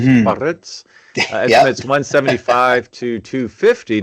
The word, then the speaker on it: Biarritz: You got to roll your R's. Mm-hmm. Biarritz.